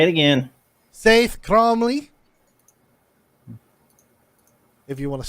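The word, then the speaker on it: Saeth: my name is sa cromley say it again saai cromley if you want to spell it it's s AE t h God damn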